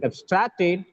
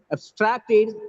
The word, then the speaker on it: abstract: for the study is abstracted from the scientist abstract here abstracted is the word work it gets stressed on the second syllable and abstract is a noun it gets stressed on the first syllable clear i hope everything